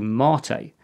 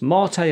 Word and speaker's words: MATE: A solid alternative to Rasbian is Ubuntu Mate. And yes, it's pronounced Mate and not Mate, as Mate is a Spanish word.